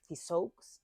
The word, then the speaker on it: Cixous: que se llama Hélène, no sé cómo se pronuncia, Cixous o algo, es Cixous.